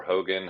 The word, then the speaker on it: Hougan: It's Matt underscore Hogan. Hogan is spelled funny.